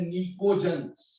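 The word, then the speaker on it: pnictogens: नाइट्रोजन family को हम एक और नाम देते हैं निकोजन्स। निकोजन्स, इसमें पी साइलेंट है।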